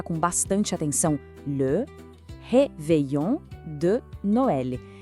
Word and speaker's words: réveillon de Noël: Vamos pronunciar com bastante atenção. Le Réveillon de Noël.